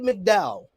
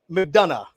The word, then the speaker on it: McDonough: from jordan devlin to jd mcdowell mcdonough mcdonough mcdonough he taught me he taught me how to say it before we went live here but i still messed it up jd mcdonough is